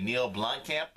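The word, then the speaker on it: Neill Blomkamp: I'm going to go see the movie Chappie, seeing how the movie is directed by Neil Blomkamp.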